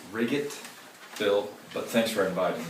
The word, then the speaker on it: Wright: Libertarian Economic Science, Douglas Wright. Dr. Wright, thanks for joining us. It's actually pronounced Riggett, Bill, but thanks for inviting me.